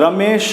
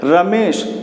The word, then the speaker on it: रमेश: नहीं आ रहा है, रमेश नहीं बोलना है, रमेश, यानी जो स का जो उच्चारण है वो बिल्कुल शॉर्ट हो रहा है, बिल्कुल छोटा हो रहा है।